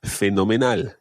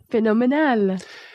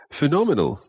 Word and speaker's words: fenomenal: And one final one, and that is fenomenal. Fenomenal. Fenomenal. Fenomenal. Another word that sounds quite like an English word, phenomenal, but say it in Spanish, fenomenal. Fenomenal.